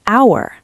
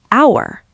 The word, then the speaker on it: hour: You can say an hour. The H is silent, so it sounds like hour.